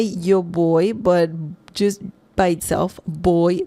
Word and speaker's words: voy: Boy, it sounds like you're saying, the English word B-O-Y, boy. Same pronunciation, boy. Remember, again, the V sound is different in Spanish. If you say voy, with the V sound, it's fine.